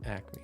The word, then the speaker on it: Acme: Acme. Oh, it's like it's pronounced like the Looney Tunes company that sells animals.